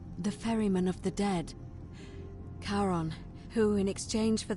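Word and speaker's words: Charon: it's just as you described it only your pronunciation is a little off the name you heard wasn't Karen it was c h a r o n as in karon the Fairman of the Dead karon who in exchange change for the right coin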